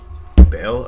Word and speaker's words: Baal: Anyone that plays Diablo 2 would pronounce that Baal. Baal?